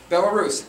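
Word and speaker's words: Belarus: if you're Russian I apologize for my horrible pronunciation but Bell Russ bellus bellarus there you go bellarus and what happened a big part of that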